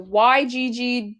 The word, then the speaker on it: Yggdrasil: The YGGDRASIL tree network.